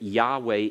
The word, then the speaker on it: Yahweh: pronouncing the name Yahweh and that Yahweh is probably the best I'd say 75% or more of of uh Hebrew Scholars whether they're Jewish or whether they're Christian uh whether they're Christian in name only or whether they're truly born again would agree that Yahweh is the pro uh the correct pronunciation of the title but they decid that